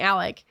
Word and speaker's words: Alex: the title you're like why is she saying Alec because that's what they call him that's okay anyway interesting